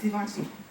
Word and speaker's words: Givenchy: Like I said, I've told you guys before, I read that the G is said like an S, kind of say it almost like they're saying vision.